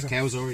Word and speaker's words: Cowzer: Cowzer? Yeah, Cowzer, yeah.